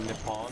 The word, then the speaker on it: Nippon: It's actually pronounced Nippon.